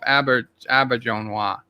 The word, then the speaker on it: Auberjonois: I found one where he pronounced it himself. Auberjonois.